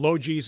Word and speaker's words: Logees: And that is spelled, Logees is spelled?